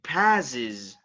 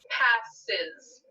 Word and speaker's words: passes: so is that category passes okay pass ends with one of our buzzing sounds so we need to add the syllable is on to the end of it passes passes pack okay and